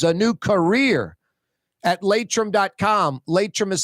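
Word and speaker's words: Laitram: Latrim continues to grow.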